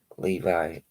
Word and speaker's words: Levi: character named John Levy, Levi. I say Levy because he's fake, so I don't pronounce what the name he wants to be the correct way.